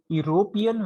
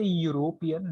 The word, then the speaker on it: European: yes, European, when you say European, that is year, Europe, we call it. So year is again here, that is consonant.